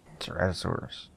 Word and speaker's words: Ceratosaurus: Ceratosaurus.